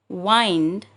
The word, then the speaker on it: wind: Here the word wind is used as a verb. So we have to pronounce it as wind. But at the same time, the word wind is pronounced as wind, but only when it